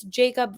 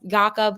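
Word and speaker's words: Jakub: tchenko and yakob vanra I know it's Jacob yakob what there are so many different ways to say his name and I like yakob I don't know veran okay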